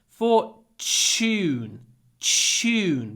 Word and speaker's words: fortune: loads of money Fortune try to pronounce the T like CH Fortune chune because it's Tu and Tu is usually pronounced CH for Fortune Fortune he